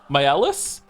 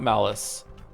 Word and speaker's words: Myelis: By the way, my name is pronounced same as Myel, but with a different ending. They are Myelis. They're variants of the same name. Hope this helps. Not mad. Myelis the malicious. So, it's not Malice.